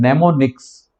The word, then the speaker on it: mnemonics: आप अगर यहाँ पे रीड करेंगे तो उसमें एम दिखाई देता है, लेकिन वो एम साइलेंट है, इसीलिए इसको रीड किया जाता है नेमोनिक्स।